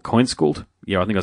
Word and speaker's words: Kainskult: It's not that far from the Swedish pronunciation. It's Kainskult in Swedish.